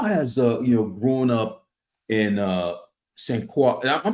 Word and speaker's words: Saint Croix: How has grown up in Saint Croix? And I'm saying it right? It's Saint Croix, right? St. Croix, you're close. Saint St. Croix. Croix.